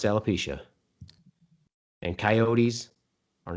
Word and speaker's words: alopecia: It's pronounced alopecia.